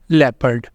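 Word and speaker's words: leopard: जहां है कुछ rules O is silent in the combination of ईओ एंड ओ यू जब ये दो कॉमिनेशन आया करेंगे उस वक्त ओ हुआ करेगा साइलेंट पहला कॉमिनेशन क्या है ई ओ का जब ई ओ आया करेगा तो उस वक्त हम ओ को प्रोनाउंस नहीं किया करेंगे जैसे यहां पे पहला है हमारे पास people लेपर्ड country favourite favour तो इन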